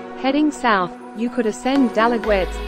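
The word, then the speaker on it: Dalaguete: Heading south, you could ascend Dalagwets, pronounce it, Dalaje, Osmia Peak of Cebu in Mantalongan.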